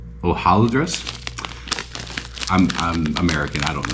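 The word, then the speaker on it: hojaldres: I don't know how if you pronounce it like Spanish h o j a l d r s ho AAL dress is probably how it's Filipino pronouncing the Philippines but in Spanish it would be o ohal ohal dress I'm I'm American I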